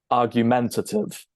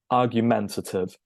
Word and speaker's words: argumentative: And we actually stress the third syllable, which is not very common in English. We pronounce this argumentative. Okay, a little bit of primary stress, but argumentative.